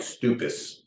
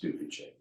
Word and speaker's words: Stupice: I would say Stupice is probably which looks like stupis, by the way. I know, I always call it spelled stupis, but I think it's pronounced Stupice.